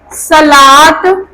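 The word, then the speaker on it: صلوٰة: कुछ लफ्ज कि जिसमें खरा जबर अगर वाव से पहले वाला अक्षर पे लगा हो तो वाव की आवाज नहीं आती है, साइलेंट हो जाती है। ठीक है, जैसे कि आपको लिखना है सलात, ठीक है, एंड ज़कात, सलात एंड ज़कात।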